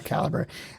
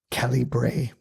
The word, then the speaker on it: Calibre: And I didn't realize that it was actually Caliber. And it was British.